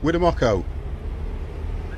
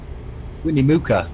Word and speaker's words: Winnemucca: Winnemucco. Do Americans say it then? Winnemucca. Win a what? Mooka. No, it's not. It's Winnemucca. That was too simple. Winnie Mooka. Winnemucca.